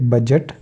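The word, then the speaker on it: budget: डी को निकाल देंगे तो जैसे बजट एज ग्रज ब्रिज क्योंकि जी के पहले आया डी तो डी को हमने साइलेंट कर दिया तो बजट का मतलब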